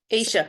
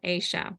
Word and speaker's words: Aisha: feel like it's I Asia you might see my name but it's not or not pronounced the same way so I Asha Asia Asia Asia welcome Asia and so